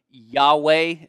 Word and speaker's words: Yahweh: Yahweh, are we pronouncing that correctly? Yahweh, great. Seems like you have a lot of aliases here, but we'll go with that one.